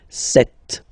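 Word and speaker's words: sept: Then here, remember, p is not pronounced, okay? It doesn't exist, so you get this set sound.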